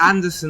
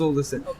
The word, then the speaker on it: Alderson: I'm cool with it I think I get Anderson all the time as well it's all distance it's Alderson but I understand in America it's it's not